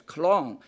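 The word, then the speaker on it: 江: They did as Romans did, and used the Chinese character Jiang, pronounced in early Chinese as Klong, to transliterate it.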